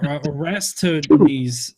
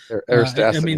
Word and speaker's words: Eratosthenes: Well, I mean, the curvature has been measured since uh Arista Arista These I can't pronounce his name well. Eratosthenes.